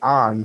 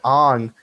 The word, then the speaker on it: Aang: but in real life when aang or as they say in the movie on because they don't like pronouncing names correctly when ang throws air at somebody